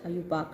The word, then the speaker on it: IUPAC: How do you pronounce it? IUPAC.